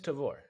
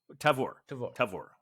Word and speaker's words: Tavor: It is Tavor. Tavor. Yeah. All right, Tavor. Because at some point I thought you said it should rhyme with flavor.